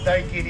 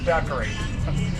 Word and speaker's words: daiquiri: and it seems like everybody in america knows what a daiki d is except most of you all pronounce it daiquiri that is their cigars